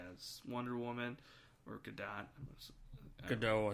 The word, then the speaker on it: Gadot: Gadot, I think that's pronounced.